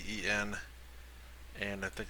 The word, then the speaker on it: Wolcen: I think it's pronounced Wolcen. It's Wolcen, and I think it's called like the Lords of Fate.